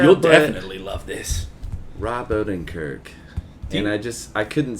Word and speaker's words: Odenkirk: because it's got rob odenkirk is how you pronounce his name rob odenkirk rob odenkirk great guy okay good guy but when i